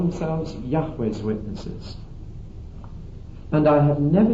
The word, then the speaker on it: Yahweh: What we do know is this, that J in Hebrew is always pronounced like a Y to us, and that V in Hebrew is always pronounced like a W in our language.